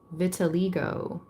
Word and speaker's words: vitiligo: How do you pronounce that? Vitiligo.